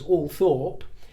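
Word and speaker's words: Althorp: family it's always been Ultra and always will be ultra and I also told you that that is how the Spencer family historically pronounced it and it's how the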